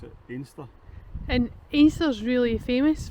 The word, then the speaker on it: Anstruther: And then after that, you might think the next village is called Anstra, but the locals, it's spelled Anstra, but the locals pronounce it Inster.